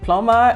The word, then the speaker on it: plumber: have never understood why the B must be silent in in plumber and and comb and bomb that's what English language